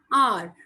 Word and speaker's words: hour: Some words where H is silent, they begin with a vowel sound and take an before them. For example, an hour, an honest.